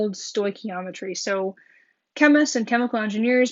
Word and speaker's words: stoichiometry: double my reactants all of this is called stoichiometry stoichiometry is basically using the mole ratios the multiple relationships and chemical reactions to go between substances again it's pronounced stoichiometry so we're going to basically use stoichiometry to